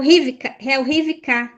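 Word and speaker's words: רִבְקָה: É o Rivka.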